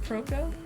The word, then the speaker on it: Proko: How do you pronounce it? Proko?